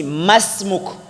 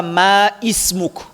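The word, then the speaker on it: اسمك: Mais au milieu, ces Hamza n'existaient pas. Comme ici, Masmuk. On ne dit pas Ma ismuk.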